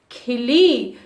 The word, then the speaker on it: खिली: So first we have to say fast and second one little long we have to pronounce like खिली, खिली, खिली, because ख छोटे ई की मात्रा is there and ल बड़ी ई की मात्रा. So छोटे ई की मात्रा we have to pronounce fast. बड़ी ई की मात्रा we have to say little long.